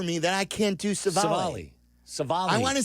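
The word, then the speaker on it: Civale: Aaron Savali. Savali? I was close. Yeah. But, which is odd because that's a pretty easy name to say. It's so Savali. weird for me that I can't do Savali.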